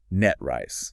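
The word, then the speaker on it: NTREIS: But if you want to sound like an insider, you pronounce it Net Rice. Net Rice. Like a snake's hiss at the end.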